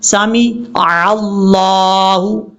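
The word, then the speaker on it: سمع الله: سمیع اللہ پڑھتے ہوئے میم کے بعد جو عین ہے یہ چھوٹ جاتی ہے، ترجمہ بدل جاتا ہے، ایسا نہیں کرنا۔ کیسے؟ سمیع اللہ، سمیع اللہ لمن حمیدہ،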